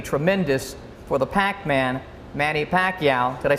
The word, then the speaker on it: Pacquiao: I'm certain the future is going to be tremendous for the Pac-Man, Manny Pacquiao.